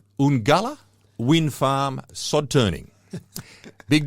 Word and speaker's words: Uungula: expert on it, but I actually say Uungula. So they probably used Uungula as their pronunciation of it in the news, and hopefully that's right. But that's the double U at the beginning of it is what says to me it's Uungula rather than Ungula.